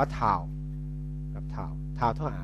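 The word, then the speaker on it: τ: ค่า เท่า กับ RC ตัว นี้ อ่าน ว่า ทา ครับ ทา ทา เท่า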